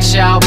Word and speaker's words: Shoup: Schaub, not Shoop, now you got the facts straight.